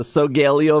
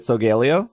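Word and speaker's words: Solgaleo: And I think I got 10 tickets every time, and you need 100, and then you get Sogaleo, or Sogaleo. Yep. Sogaleo, I think is how you say it.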